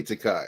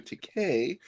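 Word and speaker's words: Takei: He hates it because he used to say Takai. I remember. I'm old. He changed it to Takay because it rhymes with gay.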